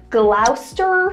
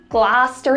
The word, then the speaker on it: Gloucester: I am going with Gloucester Sage Glock wait hold on somebody said that I pronounced it wrong Gloucester Gloster Sage that's probably not right that's probably not how you say it but it is such